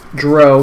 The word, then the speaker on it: Drow: the other pronunciation is correct. Drow? I don't know. I just never called it drow.